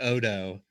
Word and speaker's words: odo: we're gonna you know care about so I pronounce it odo and hopefully that's not confusing for folks that's